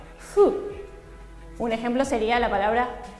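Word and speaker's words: ふ: Los japoneses no pronuncian hu, sino fu.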